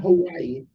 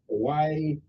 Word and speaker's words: Hawaii: are Alaska and not Hawaii we pronounce over there I'm an honorary Hawaiian we pronounce w like a V I like it okay